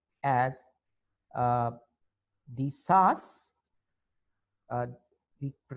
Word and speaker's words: Shas: Similarly, in Israel, we see that how Sephardis started joining new political groups, which we call as the Sas. We pronounce it as Shas.